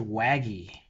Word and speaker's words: WAGI: at Wazi and wagy it's pronounced wagy like wagging your tail and is this from